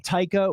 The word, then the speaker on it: Taika: creative minds director uh and i still can't pronounce his name correctly so say it for me taika with td yes of course from new zealand